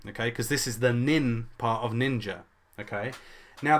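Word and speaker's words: 忍: The name of this character is nin. Okay, it's pronounced shinobi.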